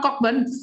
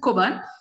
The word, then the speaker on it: Cockburn: And this woman, Margaret Bushby Lascelles Cockburn, it's not Cockburn, we pronounce it Cockburn.